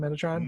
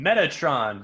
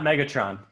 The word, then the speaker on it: Metatron: Coulter Lord Asriel and the Metatron how do you say that that guy's name Metatron Metatron yeah not Megatron nah Megatron it's not making yes mad I wanted